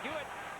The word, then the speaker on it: Huet: have to call him hewitt but you know from your french class you don't pronounce the h in in french but here we're going to see the hewitt the goaltender here i